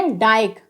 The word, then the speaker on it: dyke: तो यहाँ पर आप देख सकते हैं DYKE, तो यहाँ पर डी के बाद बाई आ रहा है तो बाई का उच्चारण क्या होगा, आई होगा। तो यहाँ पर DYKE को हम क्या पढ़ेंगे, डाइक।